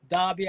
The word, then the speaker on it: Daube: future but let me introduce my man Ian dbby I always used to pronounce it wrong I used to pronounce it Ian doe I was like yo this guy Ian do